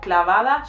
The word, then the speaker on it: clava: Here also she says instead of clavada, she says clava. Again, she says it in an Andalusian way, or like more gypsy way, which is pienso en tu mirá clava una bala en el pecho.